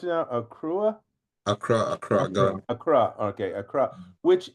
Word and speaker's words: Accra: But I want to ask you a couple things, because Jesse, you're in, how do you pronounce it now? Accra, Ghana.